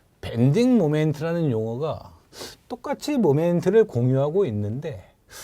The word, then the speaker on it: 모멘트: 영어로 이렇게 표현된 용어를 저 학교 다닐 때는 모먼트 이렇게 불렀거든요. 모먼트. 좀 더 유식해 보이, 미국 사람 발음에 가깝습니까? 그러니까 어떻게 읽든 상관없는데 이것을 요즘에는 그냥 모멘트 이렇게 부른다는 거예요.